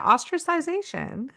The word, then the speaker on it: ostracization: Yeah, ostracization. It sounds It so sounds wrong when I say it like that, but it's not.